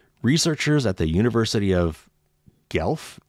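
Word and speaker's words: Guelph: at the University of gelf and that's spelled g-u-e-l-p-h I'm not familiar with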